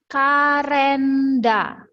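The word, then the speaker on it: カレンダー: Yang pertama ada kalenda. Ini bacanya kalenda.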